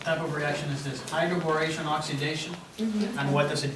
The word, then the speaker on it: hydroboration: Did we do hydroboration? No. No. Hydroboration? No. No. Not for the alkene. For the alkenes, no, for the alkynes. Yeah. You guys forgot already how to pronounce this in the German way.